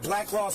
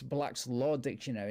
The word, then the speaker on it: Black's Law Dictionary: Do you see that Black Law's dictionary in the back seat? Black Law dictionary. Okay, first of all, for future reference, it's Black's Law Dictionary, not Black Laws.